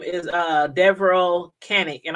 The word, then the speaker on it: Devereaux: his name is uh devereaux kennick and i hope i'm saying it right because i've been saying that all these five weeks i've been pronounced his name devro i think that's how it's pronounced but anyway devil cannon